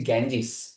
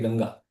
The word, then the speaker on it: Ganga: the most important river in India people say Ganges. Now what is Ganges? Ganges is basically misprononunciation. You you're supposed to say Ganga right?